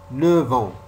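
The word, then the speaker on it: neuf ans: Après 9, on dit 9 ans. On prononce V. On fait la liaison, mais on prononce la lettre V.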